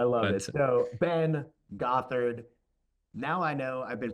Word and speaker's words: Gothard: So, Ben Gothard, now I know I've been pronouncing it correctly.